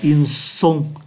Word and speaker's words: ils sont: cần để ý nhé, phát âm là ils sont, sont, âm sờ, tại vì đây là S, để chúng ta phân biệt với cái trường hợp của verbe avoir.